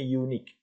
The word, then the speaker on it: unique: tapi cara bacanya Eh ini bacaannya unikque unikque pakai y unik sama dengan University bacanya you bukan University nah University ini adalah vokal Eh ini konsonan tulisannya vokal u u u u itu vokal namun Bacanya adalah konsonan nah e mengikuti cara